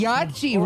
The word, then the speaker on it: Yahtzee: Yahtzee rhymes with yippee.